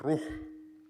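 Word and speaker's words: روح: and we know that in Semitic languages such as Arabic, air is pronounced as "ruuh" and that is the root for spirit also in the scriptures.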